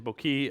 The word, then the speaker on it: bokeh: I say bokeh. Some people say bokei. I don't know any Japanese people in the room. How do you say it? Bokeh. Is that right? Yeah. Okay. Bokeh. There we go.